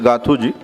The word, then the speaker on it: Gathuji: Gathuji, Gathus. So correct pronunciation is Gathuji.